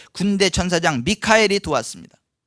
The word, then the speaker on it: 미카엘: 방해할 때 군대 천사장 미카엘이 도왔습니다 미국 이름 가운데 뭐 마이클이라는 이름 많이 쓰죠 근데이 마이클이라는게 원래 미카엘이 똑같은 거예요 영어식 발음을 하자 보니까 마이클 그러는데 어쨌거나 미카엘 천사장 있게